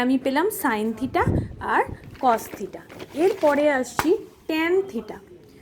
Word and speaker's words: cos: এর পরেরটা হচ্ছে কোসাইন থিটা।